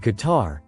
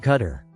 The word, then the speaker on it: Qatar: In Qatar, and it is Qatar, not Cutter. We've been over that, you guys. There are people on Even Newsmax, and definitely people on One America News that aren't pronouncing it right.